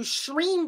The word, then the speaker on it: Shreem: And you can do Shreem Brizzy.